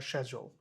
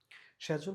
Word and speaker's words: schedule: Schedule বা schedule, এটা দুইটা উচ্চারণ হওয়া যায়। Schedule হচ্ছে কি আমেরিকান, ওটা ছোট করে দিছি কারণ স্ক্যাচুয়াল এটা সম্পূর্ণ ও উচ্চারণ হয়, স্ক্যাচুয়াল এরকম উচ্চারণ হয়। আর আরেকটা উচ্চারণ হচ্ছে কি শ্যাচুয়াল, schedule. Okay, so they had a disagreement over money.